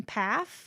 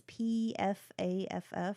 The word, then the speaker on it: Pfaff: We should talk a little bit about Kristen Pfaff, and I hope I'm saying her name correctly. It's Pfaff, and I've always butchered it and said Pfaff, but that might not be right.